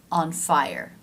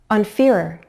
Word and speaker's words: fire: Listen. On fiery. On fiery. On fire. The last one is correct, right? On fire.